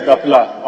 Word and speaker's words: Dapila: Did I pronounce the name well, Dapila? Yes, Dapila.